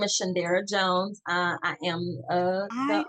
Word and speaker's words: Shaundara: well my name is shandera Jones I am a I apologize for mispronouncing your name I said Shandra Jon okay I get it all all the time but shandera Jones but a lot of